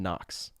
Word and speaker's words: Knox: Knox right meaning uh also has a silent k in it this is bad branding